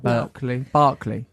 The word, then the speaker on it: Berkeley: Berkeley.